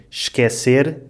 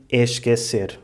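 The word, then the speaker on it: esquecer: Usually in this situation, the “es-” is pronounced /ʃ/ or /ʒ/.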